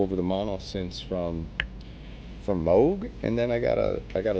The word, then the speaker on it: Moog: of the mono synth, which is Moog. Or as the Brits say, Moog.